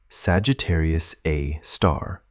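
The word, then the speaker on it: Sagittarius A*: Decades later, astronomers identified a compact radio source there and named it Sagittarius A star, pronounced Sagittarius Aar.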